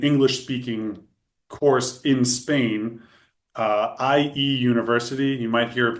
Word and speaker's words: IE: But if you wanted an English speaking course in Spain, IE University, you might hear it pronounced EA because that would be how you say it in Spanish, but I'm using the English pronunciation here.